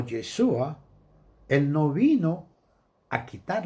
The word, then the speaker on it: Yeshua: Pero tómese en cuenta que cuando Yeshua, porque el nombre correcto que se debe pronunciar es Yeshua, eso no quiere decir que si usted dice Jesús, es que está pecando por eso.